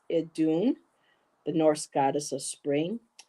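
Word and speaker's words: Iðunn: that in okay now Kristen told me to pronounce i as in the soft ey so as an imitation so it's adun the Norse goddess of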